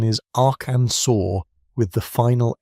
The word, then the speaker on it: Arkansas: The name comes from a French interpretation of a Native American word, and the proper pronunciation reflects that French heritage. So they made it official. The name is Aransur, and that is how it shall be spoken.